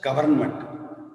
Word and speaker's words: government: For example, government. Exact spelling Government. How you have to pronounce as such government, but it's wrong. There N is silent, you have to say government.